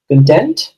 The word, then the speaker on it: content: Uh there are two ways of pron pronouncing this word, right? point first is content which means you are very happy and satisfied. I'm very content with my life but we also use it as a quantity of something like it's a content or YouTube content.